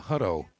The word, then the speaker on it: Huau: And uh al obviously we want to thank uh uh Miss Jeannie uh Huau is how you say her last name.